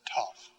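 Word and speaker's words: tau: just like in english t t top tough pronounced tough and then epsilon uh long e as in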